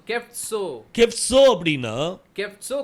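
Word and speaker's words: חֶפְצוֹ: ये साड़े के साथ ये ओ रखकर आपको उच्चारण करना है। சோ அப்படின்னு சொல்லி வரும். सो ऐसा आएगा। சோ கெப்சோ. सो केफ्सो।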